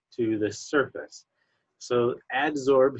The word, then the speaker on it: adsorption: will come through and absorb to the surface so adsorb here is spelled with a D it's not absorb which is spelled with a be adsorbed with a D